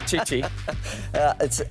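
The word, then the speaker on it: Tite: I think Brazil under Chichi had a great spell during the qualifiers. Spelled with two T's, but we're going to pronounce it Chichi.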